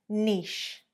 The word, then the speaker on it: niche: It's one syllable, niche, niche. Only one syllable there, guys. So essentially the vowel on the end isn't pronounced.